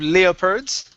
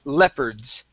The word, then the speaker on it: leopards: Next up, instead of leopards, okay, the O is not going to be pronounced, so it's leopards.